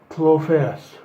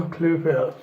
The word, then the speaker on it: Klophaus: Apparently it's pronounced Walter Klophaus. Walter Klophaus.